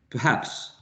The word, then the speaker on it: perhaps: at this one perhaps perhaps perhaps the stressed syllable in perhaps is the second syllable perhaps and the first